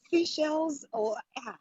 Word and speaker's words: Seychelles: tongue with this one seashells lavender please help i believe that's the right pronunciation for seashells that's good you know